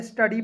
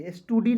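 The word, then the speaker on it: study: टी यू डी वाई अब देखिए इसे क्या पड़ेंगे स्टडी पड़ेंगे एस टू डी नहीं पढ़ लीजिएगा बहुत सारे ऐसे दोस्त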